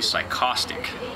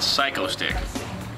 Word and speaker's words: Psychostick: And original pronunciation was going to be psychostic, which created all sorts of confusion locally when we cuz there's a there was a song where he said, "I'm in that band psychosic." The original recording of Inaband Chicks, I said psychostic. And then and we couldn't think of a title. I pronounced it psycho stick. So we went with the the more obvious pronunciation.